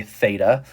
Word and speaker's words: theta: So here I've got a theta. So this is how you say this. That's a theta.